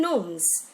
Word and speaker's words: gnomes: Again, gnomes. Here, G is silent.